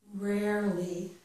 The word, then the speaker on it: rarely: the other way around here we have rarely rarely and we don't pronounce this e there so rarely rarely so